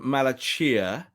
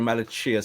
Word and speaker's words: Malacia: to him rob i'm going i'm going to pronunciation i'm going malachia it's the chia bit that's everyone's going is it sia say yes i'm going malachia someone from feyenoord said that's the correct pronunciation